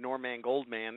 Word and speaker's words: Norman Goldman: And, you know, the reason I pronounce it NorMAN GoldMAN is there's a story behind it.